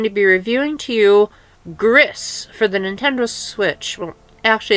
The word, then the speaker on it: Gris: be reviewing to you grist for the Nintendo switch Ashley it's pronounced grease like the Spanish word for grey but I'm an American